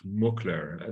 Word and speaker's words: Schmookler: guest today and it's none other than Aaron's mukler now you gotta help me with that name did I pronounce it correctly perfectly yeah wow I'm I'm